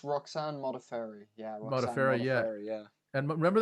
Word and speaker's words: Modafferi: She lost to how do you pronounce that? Modafferi. It's Roxanne Modafferi.